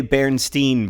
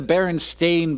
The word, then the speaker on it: Berenstain: well I always say Berenstein bears I don't know if that's correct I know that it's spelled with an A but I've always pronounced it with an e because that's the way